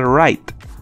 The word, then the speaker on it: write: Esta E no se pronuncia, aunque sí influye en la pronunciación. Si yo la quitara, esto se pronunciaría RIT. Pero como existe la E muda aquí, altera el sonido de este IT y se pronuncia RIGHT.